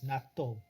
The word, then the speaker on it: natto: In our pronunciation is natto.